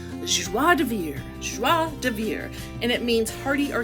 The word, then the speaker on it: joie de vivre: Okay, I had to look up the pronunciation. It's joie de vivre, and it means hearty or carefree enjoyment of life.